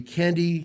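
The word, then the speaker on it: Kandi: That vehicle is the Candy K27. Yep. Candy spelled with a K, K-A-N-D-I.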